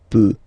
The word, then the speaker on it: peut: peut. Then il, elle, peut. So you will put T at the end, you don't pronounce it.